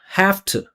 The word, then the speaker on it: have to: We always pronounce it with F. There's no rule for this. It's just what we do.